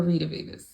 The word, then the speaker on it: Redivivus: I said Redivivus. Is it Redivivus or Redivivus? It's both. Either or.